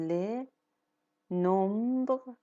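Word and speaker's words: les nombres: ل نم یعنی اعداد ل نمب اینجا با همدیگه تلفظ میشن ولی خب اس تلفظ نمیشه ولی خب این اس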